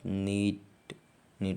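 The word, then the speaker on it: knit: यदि किसी वर्ड में के एन एक साथ हो तो के साइलेंट हो जाता है, इसे अगर के एन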